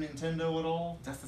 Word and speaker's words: Nintendo: Anyway, so one more time, can we get Nintendo with a native pronunciation? Nintendo. Nintendo.